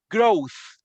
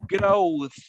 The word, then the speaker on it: growth: we have not internalized that the word we mispronounce so let's work on that one next one listen repeat after me growth perfect perfect remember in the final sound that